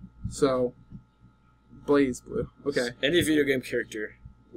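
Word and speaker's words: BlazBlue: be and by the way Blas blue is pronounced blaze blue so blaze blue okay any video game character I would say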